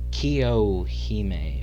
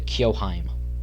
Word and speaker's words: Kiyohime: Next up is the Kiyohime, or as I been pronouncing it, the Kiyoheim.